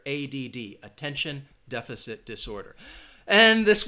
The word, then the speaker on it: ADD: But again, you're going to pronounce each letter, ADD, Attention Deficit Disorder.